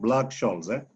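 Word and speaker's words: Black–Scholes: The H is silent. The way we see Scholes. So people will call it a Black-Scholes. So again, I will call it Black-Scholes.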